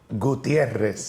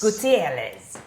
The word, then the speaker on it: Gutierrez: Gutierrez. Gutierrez.